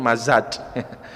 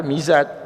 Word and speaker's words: Mizaj: Nama saya dulu di Mesir dipanggil Mazaj, padahal Mizaj, nama saya Arab asli